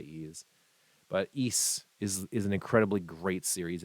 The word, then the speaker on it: Ys: It's spelled YS. So if you've ever seen a game series that has like a big Y and an S, it's not Y's, it's not E's.